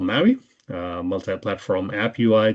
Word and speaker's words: MAUI: this is what's called Maui uh multiplatform app UI the p is silent cuz empa sounds like